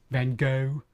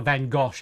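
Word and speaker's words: Van Gogh: I was trying to pull a van gosh out of that, but I can't do it. There's no there's no region in the world that would pronounce his name Van Gosh.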